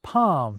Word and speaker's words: palm: We stop pronouncing the T's in words like castle and hasten, and the L's in folk and palm disappear for a lot of people.